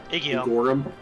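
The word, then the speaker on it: Igeyorhm: So supposedly there was a whole bunch of cut content in Heavensward that builds up how the hell is it pronounced? The female Ascian? Igiorm.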